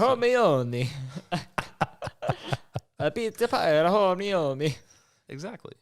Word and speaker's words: Hermione: I didn't know Hermione was how you pronounce it. Hermione.